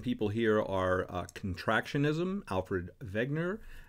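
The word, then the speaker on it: Wegener: here are contractionism alfred wegner as it's pronounced in austrian or german and plate tectonics uh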